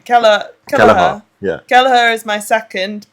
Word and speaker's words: Kelleher: Kelleher.